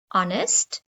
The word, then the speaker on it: honest: took me one hour to complete my work honest for example if mommy asked who did this